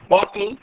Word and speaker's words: bottle: Now, the participants, the pronunciation of bottle is bottle, not bottle.